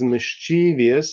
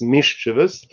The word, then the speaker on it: mischievous: the change of amelioration of course mischievous or some people pronounce it as mischievous but I guess more the correct one is mischievous is originally uh an